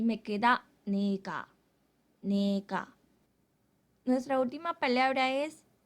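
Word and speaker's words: 네가: así que tú se escribe niega pero se pronuncia nica tú o en este caso nica es la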